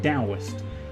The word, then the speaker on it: Taoist: Even though it's spelt with a T, Taoist is actually pronounced more like Taoist.